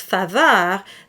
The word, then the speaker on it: faveur: Now in the word, for instance, faveur, there is an A sound, and that is an A, it's not A, but it's A, as in cat.